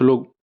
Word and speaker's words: लं: इसे लंग भी कह सकते हैं, लम भी कह सकते हैं, कुछ लोग अपनी सुविधा अनुसार कुछ लोग इसका उच्चारण करते हैं अलग अलग, लेकिन मैं इसे लंग ही कहता हूँ।